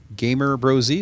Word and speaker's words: Gamer Bros: And I saw this mock-up video of you and Atlas as kids filming Gamer Brosy.